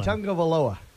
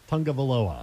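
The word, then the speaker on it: Tagovailoa: My goal before next season is to be able to pronounce the Alabama quarterback's last name. Tua is all I call him. Tungavaloa. Tungavaloa. Yep, Tungavaloa.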